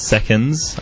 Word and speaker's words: Seconds: That's seconds, unlike the other night when... Someone thought it was Sex Before Sunrise.